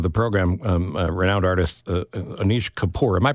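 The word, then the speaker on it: Anish Kapoor: please welcome to the program um renowned artist Anish kapor am I pronouncing that right oh you are yes you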